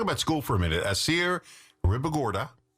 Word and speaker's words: Assier Ribagorda: Assier Ribagorda, saying it right.